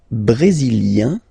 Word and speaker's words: brésilien: Le Brésil, brésilien, yin, brésilien, like we had for canadien, brésilien, feminine form, brésilienne, yen, brésilienne.